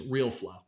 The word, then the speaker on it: Realeflow: Now, by the way, Real is spelled R-E-L-E. Don't ask me for a spelling bee. Real with an E. So if you're actually to say it's Realeflow, okay? But the way it's pronounced to them is Realeflow, okay?